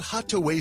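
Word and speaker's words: Hatuey: It's called Hataway Cigars. It's that little red place right there at 16th and V Streets. It's spelled H A T U E Y.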